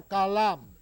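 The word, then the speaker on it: Coulomb: llamaba charles agustín y su apellido que era francés se pronuncia cala cala no así como lo pronuncian los profesores de manera pues que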